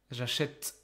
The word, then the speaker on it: j'achète: But if the consonant after it is empty, like here, it's like T, j'achète, j'achète, okay? Then it makes more sense to pronounce an open vowel because the consonant after it is like, it's open, there's nothing after it.